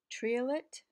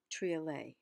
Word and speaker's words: triolet: the word trio let which might be pronounced that link French it would be true or learning it can be pronounced tree lit or tree la a poem of eight